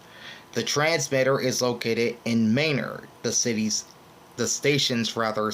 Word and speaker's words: Manor: mayor Texas it's written as Manor but it's pronounced mayor m a n o r this station is